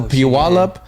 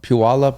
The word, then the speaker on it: Puyallup: I've only been to Seattle, Tacoma, Puyallup. Am I saying it right? Yeah, Puyallup.